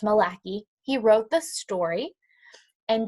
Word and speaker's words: McCauley: the pictures so William Milwaukee sorry I pronounce his name wrong earlier it's Malak II he wrote the story